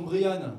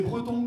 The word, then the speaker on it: Brian: m'appelle Brian Brian ouais j'insiste sur la prononciation Brian parce que depuis que je suis arrivé à Paris j'ai tout entendu c'est briy Brant connard je je l'ai beaucoup entendu celui-ci c'est Breton comme prénom je sais pas s'il